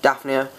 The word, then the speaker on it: Daphnia: So another thing I got today for him is this food here, which is Daphnia. Yeah, that's how you say it. Daphnia.